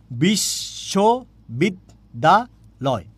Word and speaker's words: বিশ্ববিদ্যালয়: আমরা প্রথমেই বলি বিশ, তারপরে কি বলে? শো, তারপরে কি বলি? বিশ্ব, তারপরে কি বলি? বিদ, তারপরে কি বলি? দা, তারপরে কি বলি? লয়। তাহলে কয় চেষ্টায় উচ্চারণ করলাম? বিশ্ববিদ্যালয়।